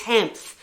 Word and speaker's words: Hanff: I can never pronounce her name. It's Hanff.